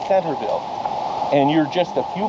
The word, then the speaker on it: Centralville: in a place called Centerville it's spelled centralville but it's actually locally pronounced Centerville and you're just a